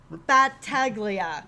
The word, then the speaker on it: Battaglia: Okay, Battaglia.